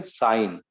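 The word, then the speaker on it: sine: हाँ, तो ये इसका उच्चारण भी हम करेंगे साइन, सिन नहीं करेंगे उसको, साइन।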